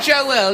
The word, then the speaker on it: Joel: Billy Joel is deeply sexual. Do you notice how I said Joel? It was that extra syllable Yeah, that I drove said Billy me wild.